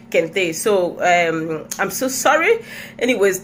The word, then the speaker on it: Kente: I also called Kent style instead of Kente.